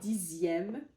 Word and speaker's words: dixième: C'est par exemple comme dixième, comme j'ai écrit ici, dixième, deuxième. En fait, c'est dans les, la plupart, c'est dans les nombres, en fait, quand le X se prononce Z, Z.